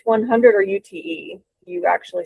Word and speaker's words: Ute: for the Crest, and forgive me if I mispronounce this, is it Ute 100 or UTE?